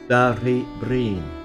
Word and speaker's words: Derrybrien: Antair Eric Machin of UCG insisted on the old pronunciation Derrybrien. Brien means a fairy dwelling, a hostel of strife. Even today, the broad R is accented by some older people.